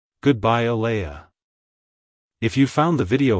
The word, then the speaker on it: Aleah: exalted it's pronounced as ala ala ala to pronounce it correctly emphasize the Lee sound and end with a soft uh sound avoid pronouncing it as Aliah like hello ala goodbye ala if you found the